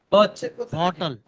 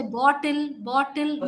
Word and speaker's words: bottle: English speakers tend to say bottle. No, it's Bottle. bottle. Bottle. Please pronounce the t. 1 minute. Please pronounce the t and the l together.